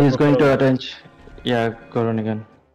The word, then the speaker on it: Groningen: Yeah, Groningen. Groningen. Groningen, okay. Yeah, it's always nice to pronounce the K, the G, in Dutch.